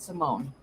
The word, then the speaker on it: Simone: Simone, not Simon.